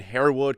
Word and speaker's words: Harewood: I mean, it's Harewood. It's a 2-syllable name. I feel like it's probably one of the easiest names in football to pronounce.